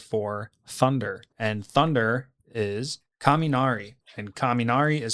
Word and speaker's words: kaminari: TODAY'S LANCE'S LESSONS IS GOING TO BE the Japanese word for thunder and thunder is kaminari and kaminari is spelled k a m i n a r i.